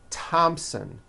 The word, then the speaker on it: Thompson: like to point out although these next words and names are spelled with a th they are pronounced as if they were spelled with a normal T like that and these